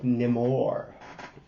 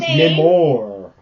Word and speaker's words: Namor: What did you think of Namor? Okay, that's not how they say it. They're always Namor. That sounds like Amor.